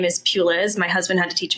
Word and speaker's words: Puliz: my last name is Peis my husband had to teach me how to say it it's like a church pew and a little girl named Liz and then you smash them together I get a whole